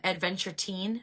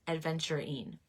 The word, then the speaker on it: aventurine: was pronouncing it wrong I used to say um Adventure teen but it's not Adventure teen it's adventurine okay and then h tight